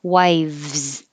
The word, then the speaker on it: wives: sound wife just air 12 you have top teeth on bottom lip same position but now you have voicing so it makes it a v wives wives it's kind of a difficult combination wives 13.